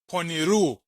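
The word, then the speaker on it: πονηροῦ: The next word has an omicron epsilon at the end, so it's pronounced poniru. So I'm going to read both words from Matthew 6, verse 13.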